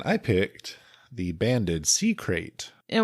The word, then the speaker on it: krait: And I picked the banded sea crate. And when you say crate, it's a type of snake. It's not a box. We're not talking about boxes. K R A I T. Crate.